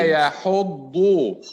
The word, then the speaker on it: يحض: ولا يحض. We pronounce it ضاد. The first dot is second, and the second dot has ضم.